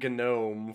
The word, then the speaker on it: gnome: The G in gnome is silent.